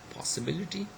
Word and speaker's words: possibility: Likewise, we have got possibility, okay, possible and possibility, and we have got commerce and commercial, okay, and then we have got advantage and advantageous.